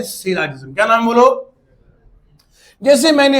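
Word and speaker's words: syllogism: कुछ लोग पढ़ाने वाले इसको पढ़ाते हैं साइलॉगिज्म। अरे भैया पहले प्रोनाउंसिएशन सीख लो फिर पढ़ाओ। इसे कहते हैं सिलाजिज्म।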